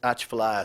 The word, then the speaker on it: Atchafalaya: dominate mangrove that is incorrect much of Louisiana's Atchafalaya swamp hooter Cypress that is correct say Prasad